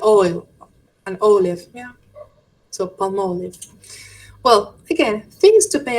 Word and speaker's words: Palmolive: Well, I'm not going to buy it, but For example, how would you pronounce this brand? Palm palm. Close. Close enough. Close enough. Palm. Palmolive. Palmolive.